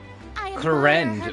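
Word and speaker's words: Clorinde: time I've had to square up and down clarende oh that's how you pronounce the name I refuse to pronounce it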